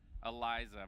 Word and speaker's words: Eliza: is a counter pick for how do you pronounce that Eliza yeah yeah you got it spot on Eliza versus Asuka Asuka yeah let's see let's see